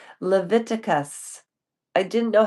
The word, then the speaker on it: Leviticus: I was reading February 17th, and it's pronounced Leviticus.